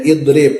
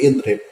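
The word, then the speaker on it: اِضْرِبْ: Kemudian idrib ya, bukan udrib tapi idrib.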